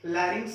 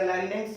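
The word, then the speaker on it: larynx: अब फेरिंग्स या फेरिनेक्स भी बोल सकते हो, लैरिंग्स या लैरिनेक्स भी बोल सकते हो, वो प्रोनाउंसिएशन आप लिख लेना, फेरिनेक्स या फेरिंग्स।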